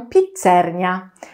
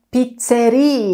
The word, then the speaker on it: pizzeria: pizzerii nie lubię naprawdę nie cierpię kiedy ludzie mówią pizzernia nie wiem skąd to się wzięło nie chcę wiedzieć Pamiętajcie że kiedy będziecie we Włoszech mówicie pizzerii Ja tam jest się